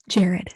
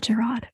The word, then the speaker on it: Jared: um, oh yeah, Jared is Jared, not Gerard.